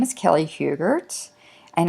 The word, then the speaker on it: Hubert: my name is Kelly Hubert and I get my last name pronounced a lot of different ways but it's hubert and I have a